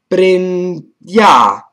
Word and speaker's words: prendiamo: So in this case, you say prin, so it's prendiamo.